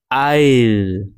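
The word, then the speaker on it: I'll: আর এইখানে যে অংশটা আছে না, এটা কিন্তু শর্ট ফর্ম আছে, কন্ট্রাকশন, এটা হচ্ছে আই উইল, তাই আইল এভাবে একটু টেনে উচ্চারণ করতে হবে, আই উইল না বলে।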